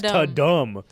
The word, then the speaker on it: Tudum: How do you spell it? Tudum. That's Ta-dum.